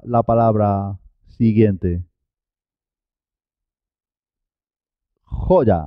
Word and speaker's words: joya: Joya, así es, joya. Jo y la Y como una Y, consonante. Jo ya, porque empieza sílaba.